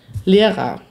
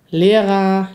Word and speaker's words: Lehrer: L e r a Lehrer ist eigentlich fast genau die gleiche Aussprache und macht es sehr viel einfacher er kann man eigentlich immer durch a ersetzen im deutschen z.B Lehrer lauter Mutter Mutter michaelko